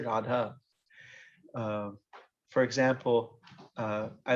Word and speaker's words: radha: drop the a so feminine words you don't drop the a radha long a at the end even if you're speaking a modern a newer language anybody in india nobody says rad they always say radha for example i like